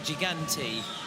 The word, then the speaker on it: Gigante: Not to be pronounced Italian style, Thomas. I don't want to hear you saying Gigante. This is Gigante. I'm going to say Gigante.